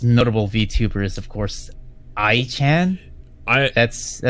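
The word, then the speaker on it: Ai-chan: I mean, the most notable VTuber is, of course, I-chan. That's how it's pronounced.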